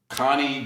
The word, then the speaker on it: Conney: Conney D.